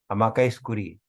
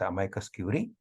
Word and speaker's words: amicus curiae: Amicus curiae, amicus curiae.